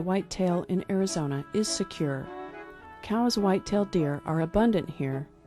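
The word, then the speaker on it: Coues: goodbye if you're wondering the proper pronunciation is cows although a lot of people still say coos either way they're a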